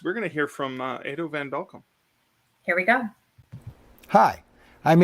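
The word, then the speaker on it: Edo van Belkum: we go hi i'm edo van belcum if you ever wondered how to pronounce that name properly here's a couple of tips edo like potato and van belkam like you're welcome but enough about my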